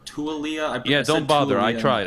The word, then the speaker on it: Taulia: This is really weird for me, but oh, and Adam, to your point, the quarterback's name is, I believe it's pronounced Taulia or Tualia.